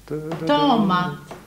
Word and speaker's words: tomat: Tomat. Tomat. Tomat. Tomat. Tita, va? Betoning på den andra stavelsen.